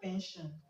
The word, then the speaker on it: pension: options now we have pension pension okay now Pion the the letter that is before s n is a consant letter so the S is pronounced sh and not okay option b you